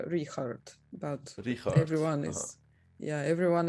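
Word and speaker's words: Richárd: of a6 or b7 so now i expect richard to play knight at d3 but i heard that his name is actually pronounced like zikart or like how is it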